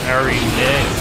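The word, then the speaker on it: Araneae: So it's not Queen Iraq thing like I thought. It's Queen Aranea.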